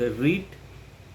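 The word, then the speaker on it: read: रीड भी वव में आर ई ए डी रीड इसका भी पास्ट में भी रीड होता है लेकिन इसको पढ़ते समय हम लोग रेड पढ़ना पड़ता है ना रीड रेड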